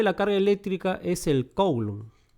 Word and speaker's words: coulomb: Más 1,6 por 10 a la menos 19 coulomb. Algunos lo pronuncian culombio. Culombio. Bueno, yo lo pronuncio coulomb, pero uno lo pronuncia culombio, ¿no?